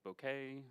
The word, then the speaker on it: Bokeh: We'll be talking data visualization with Bokeh, or Bok, or however you want to pronounce it.